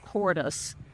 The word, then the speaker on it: Kordes: Bliss Parfuma is one of the Parfuma series of roses developed by one of my personal favorite rose breeders called Wilhelm Cordes. That's spelled Kordes.